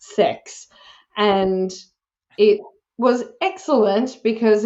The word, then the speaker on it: CEHX: to CeX which uh sounds controversial but it's pronounced sex and it was excellent because it was something